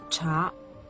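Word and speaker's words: 茶: Le caractère chinois qui signifie thé se prononce cha.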